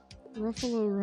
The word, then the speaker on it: Ruffalo: Ruffalo rhymes with buffalo.